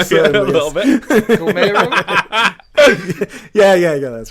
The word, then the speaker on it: Guillermo: Guillermo? Yeah, that's right. Yeah. It's Guillermo.